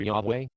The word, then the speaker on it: Yahweh: So whether the pronunciation of the tetragrammaton becomes Yahweh or Jehovah depends on which vowels the reader supplies to the 4 consonants. Today many Hebrew scholars prefer Yahweh as the true pronunciation.